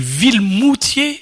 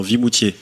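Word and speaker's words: Vimoutiers: pas Vimoutier c'est ça Vimoutier on va le dire comme ça s'écrit pourquoi ça se dit pas comme ça B bien sûr que si moi j'avais un doute avec vilmoutier et Vimoutier non non Vimoutier Vimoutier dans l'Orne et et tout pas très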